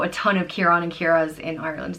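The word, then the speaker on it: Ciara: And the girl version is Kira, just without the N on the end. So Kieran and Kira are... We all know a ton of Kieran and Kiras in Ireland.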